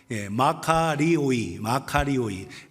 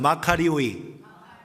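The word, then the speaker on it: μακάριοι: 마카리오이. 따라합시다. 마카리오이.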